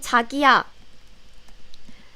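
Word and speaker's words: 자기야: good one tokyo and takiyah be careful tokyo and taki yeah so it sounds very similar right tokiyu takiya but it means completely different tokyo means excuse me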